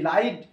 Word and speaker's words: light: যদি GH অল থাকার কানে GH টা পুরো সাইলেন্ট মোড রে থানা এরা GST লাইট अब यहाँ पे लाइट LIGHT लाइट शब्द तो